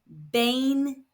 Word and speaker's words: veinte: Remember in European Spanish the v is pronounced b like in brown. So this word is pronounced bane. The stress is falling on the second to last syllable which happens to be the first syllable.